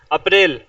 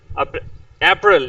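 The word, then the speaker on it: April: नहीं बेचारे अब्बा जी अप्रैल अप्रल इंग्लिश में य अप्रल पढ़ा जाता है जिसको हम लोग अप्रैल या अप्रल या इस तरह पढ़ते हैं in English it's pronounce अप्रल अप्रल ओ no there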